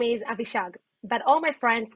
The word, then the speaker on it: Avishag: our process after monitoring them my name is abhishag but all my friends call me because it's easier to pronounce and it's shorter to write i started my tech career on 2013.